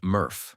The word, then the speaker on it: MRF: a materials recovery facility or mrf yes that's pronounced murf believe it or not this facility sorts recyclables